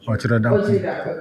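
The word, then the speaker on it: Otchere-Darko: Gabby Otridarko, did I say his name right? Gabby Otridarko, thank you.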